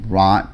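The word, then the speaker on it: wrought: our last slide um we have also rot metal that's how you pronounce it uh metal alloys and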